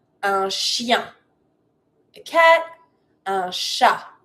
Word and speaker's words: chat: Un chat. Don't pronounce the T.